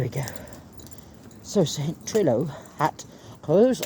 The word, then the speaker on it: Rhos: go so trillo hat rose on SE pronounced Rose r h o s so there we go